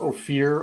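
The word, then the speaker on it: Ophir: we were there called opir it's per it's spelled like oh fear o p h i r I think and it's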